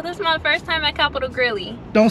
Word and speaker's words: Capital Grille: what they talking about it's not Capital grilly it's Capital Grill I'm going to bust